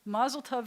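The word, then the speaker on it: מזל טוב: yeah like Mazel Tov so Mazel Tov is the ashkenazic pronunciation when notice we're shifting the accent to the beginning of the word Mazel and swallowing up the end of it but in Hebrews Mazel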